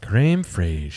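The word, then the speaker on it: crème fraîche: Creme fraiche.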